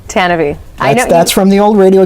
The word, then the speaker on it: Tantive: And yes, it's pronounced Tantive. Tantive.